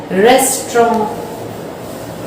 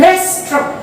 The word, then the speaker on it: restaurant: Indian और British English में RESTAURANT को प्रोनाउंस करते हैं, यहां बहुत ध्यान से देखिएगा, रेस्टोरेंट। रेस्टोरेंट, ये प्रोनाउंसिएशन के लिए RESTRAWNT पर ध्यान देंगे, ठीक है। तो रेस्टोरेंट, और अमेरिकन इंग्लिश में इसको बोलते हैं रेस्टोरेंट। रेस्टोरेंट, रेस्टोरेंट। तो ब्रिटिश इंग्लिश में और